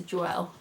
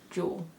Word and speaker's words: Jewell: like the past year i've been pronouncing her name wrong and um i've been saying lisa joelle it's actually lisa jewell which makes a lot of sense i just mispronounced it so anyway uh this